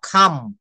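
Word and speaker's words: come: কাম না, এটাকে আমরা ইয়েটা দেখাবো, উচ্চারণ যেটা আমরা প্রোনাউন্সিয়েশনের ইয়ে দেখাবো। কাম বলা যাবে না, সি কে বলতে হবে খ, খাম।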